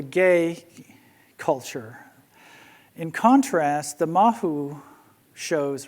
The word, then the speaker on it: mahu: And these are called mahu, M-A-H-U, or M-A-H-O-O, depending on the pronunciation.